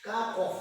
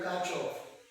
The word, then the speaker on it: Kirchhoff: We shall be looking at Kirchhoff. We call it, some people call it Kirchhoff, but I pronounce it as Kirchhoff rules.